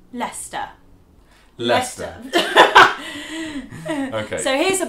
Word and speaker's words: Leicester: So the correct way to pronounce this word in British English is Leicester.